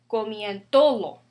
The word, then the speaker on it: comiéndolo: And that's because without accent mark would be comiéndolo, because O is a vowel. Without accent mark, stress naturally falls on this O, second to the last. But that's not how we pronounce it.